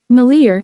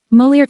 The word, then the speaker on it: Molière: The 17th of February 1673, known by his stage name Molière, UK, Moliere, Mol, US, Moliere, Molière, French.